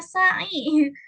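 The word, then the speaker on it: سعي: Bukan sa'i tadi tuh, bacanya sa'i.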